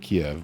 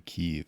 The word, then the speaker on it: Kyiv: This Ukrainian war, I've heard it called both. It's been Kiev my entire life, but now apparently Kyiv is the right way to say it.